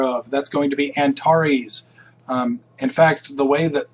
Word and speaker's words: Antares: sky you'll notice that this particular Antares or Antares is and by the way it even looks like it kind of rhymes with Mars and tar this AR here looks a lot like Mars it's a very bright